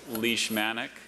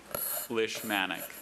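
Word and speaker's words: leishmanic: So just those two pronunciations. Yes. Leash manic. Lis manic.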